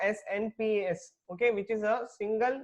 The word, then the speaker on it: SNPs: Okay, see, ये याद रखना है तुम लोगों को, SNPS, okay, which is a single nucleotide polymorphism.